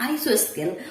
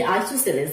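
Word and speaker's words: isosceles: अपने मन से इसको मैंने प्रोनाउंस किया आइसोस्केल, और उसी तरह से 3-4 साल मैंने चला दी आइसोस्केल। फिर मुझे पता चला रही ये तो आइसोस्केल नहीं है, ये आइसोसेलेस है।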